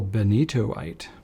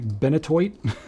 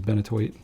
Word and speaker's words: Benitoite: Lami Crystal Benitoite. All right, we got a Lami in the house now. Now, truth be told, I definitely pronounced this ink bentoid for a while until I was corrected.